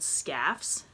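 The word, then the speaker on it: Skaf's: to walk there was a place called scoffs it's spelled sk AF apostrophe s and it was a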